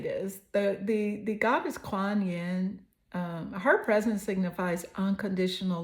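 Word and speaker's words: Kuan Yin: what is the energy coming through the goddess Quan Yen I love her name I love the way it's spelled k u a n y i n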